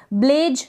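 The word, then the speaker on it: blaze: ही पढ़ेंगे ठीक है यहां पर ज के नीचे बिंदी नहीं लगी हुई इस तरीके से बिंदी होनी चाहिए ब्लेज तो इसको ब्लेज नहीं पढ़ेंगे ब्लेज पढ़ेंगे ज ज नहीं पढ़ेंगे ब्लेज का मतलब आग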